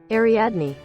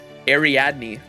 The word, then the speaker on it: Ariadne: Ariadne. Ariadne.